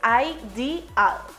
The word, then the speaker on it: ideal: Por ejemplo, en la palabra ideal se aplica la regla general de pronunciación de vocales porque están en diferentes sílabas. Por lo tanto, la pronunciación final es ideal.